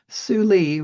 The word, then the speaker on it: Tsuli: known to be highly blight resistant include Korean Giant, Surrey, which is spelled Seuri, Suli, which is spelled Tsuli, and Shinko, which is spelled just like it sounds, Shinko.